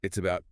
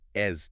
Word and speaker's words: 訂金: "Dìngjīn (訂金)" versus "dìngjīn (定金)." Notice the different first characters. Right, same pronunciation, different characters.